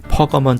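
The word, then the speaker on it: Pergamum: 세 번째 교회는 버가모 교회로 영어로는 퍼거먼 처치로 발음합니다.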